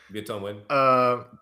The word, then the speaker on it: Viet Thanh Nguyen: I might be mispronouncing that. I think it's pretty close. Yeah, that's good. Yep, okay. That's right. Viet Thanh Nguyen.